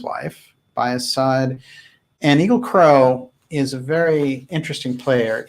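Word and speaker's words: Egil Krogh: his name yeah okay there might be different pronunciation it's EG IL k r OG h but people crow he's a very unusual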